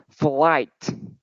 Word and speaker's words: flight: okay you just remember you should pronounce the ending sound of this word okay so could you pre-pronounce it for me it is flight just remember the letter t Okay flight okay so